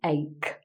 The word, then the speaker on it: ache: pronounced like a k it looks like h but it's pronounced ache with a k sound um you can have